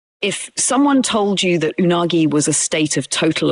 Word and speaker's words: unagi: Unagi simply means eel. The word is pronounced in three smooth, even beats, almost like a fish moving through water.